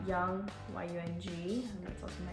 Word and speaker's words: Yung: Well, hi, spelled like the air you breathe and you breathe in, so it's literally. Young, Y-U-N-G, and that's also my Instagram, Young.